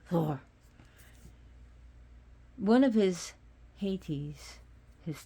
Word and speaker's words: Thor: titles of Thor Thor and that's how you actually pronounce it Thor one of his haes